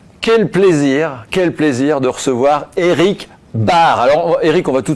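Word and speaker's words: Baert: quel plaisir de recevoir Eric Bard. Alors Eric, on va tout de suite, mettre les choses à plat. On dit bien Eric Bard. Ça s'écrit B-A-E-R-T, mais on dit Bard.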